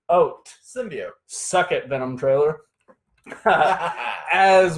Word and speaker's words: symbiote: The correct pronunciation is Symbiote. Symbiote.